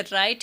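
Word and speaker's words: write: जैसे राइट है, राइट में W साइलेंट रहेगा, डाउट में B साइलेंट,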